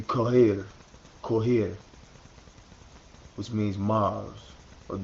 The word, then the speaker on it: Cairo: Remember I told you how Cairo is a mispronunciation. The capital of Egypt should be Kohir, which means Mars, or